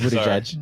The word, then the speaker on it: Buttigieg: No, it's Buttigieg.